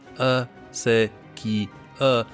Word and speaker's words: acequia: Indeed, the word acequia, pronounced a-se-qui-a, stress on the sa, is an adaptation of the Arabic as sikaya, sakia, not sure, meaning water carrier.